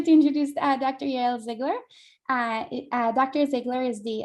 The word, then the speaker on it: Ziegler: uh uh just let me know if i'm pronouncing your name correctly i just need your photos actually ziegler but my maiden name is zeiger so i'm